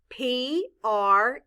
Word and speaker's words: pretty: P-R-E-T-T-Y. In this word, the letter E stands for the short I sound, I. The letter Y stands for the long E sound, E.